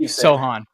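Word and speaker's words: Sochan: so that's my opinion Sohan right yeah see I I came out and said that that was the pronunciation and still can't get it right um but what I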